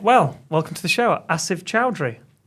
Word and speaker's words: Asif Choudry: Asive Chowry.